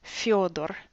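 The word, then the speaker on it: Фёдор: For example, we have the name Theodore, which we can pronounce in English with the th sound, but when you say that name in Russian, it's Fyodor.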